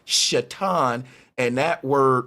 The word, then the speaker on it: Satan: And the word Satan is supposed to be pronounced Shatan.